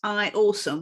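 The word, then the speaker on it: IAUSM: teacher on the platform it's i a u s m but pronounced i awesome which is brilliant yeah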